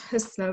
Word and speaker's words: Husnaa: My name is pronounced Husnaa, but I appreciate your effort.